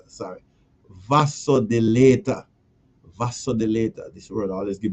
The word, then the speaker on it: vasodilator: Raw garlic is a is a vasolid vasolidator. Sorry. Vasodilator. Vasodilator. This word always give me a little problem pronounce.